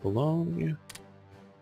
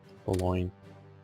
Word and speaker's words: Boulogne: And Bologna. Good. Boulogne. Yeah. That's how I really properly pronounce it.